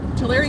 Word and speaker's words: Tulare: i was just thinking my mnemonic device is uh that you're writing a letter to larry dear larry i live in tulare two two very anyway